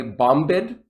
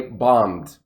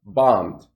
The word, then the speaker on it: bombed: bomb an exam and notice the b is silent i don't say bombid i just say bombed bombed all right so that's